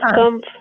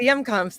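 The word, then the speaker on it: Hjemkomst: at the FMCT in the, I don't even know how to say it properly, The the Yumcomps. Yomscomp. Yes, the Yumcomps, the Historical Yeah, and Cultural Society of Clay County building.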